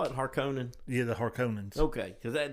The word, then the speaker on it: Harkonnen: It's Harkonnen, Right. but it's not. It's actually Harkonnen.